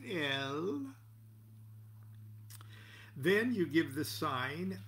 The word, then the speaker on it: El: When you complete drawing that pentagram, you say El. I know it's pronounced, it looks like Al, but you can pronounce it that. It's spelled Aleph Lamed, but it's pronounced El.